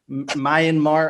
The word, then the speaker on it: Myanmar: There's a Myanmar. I don't even know how to pronounce that. I apologize for anyone. Right the first time. Myanmar.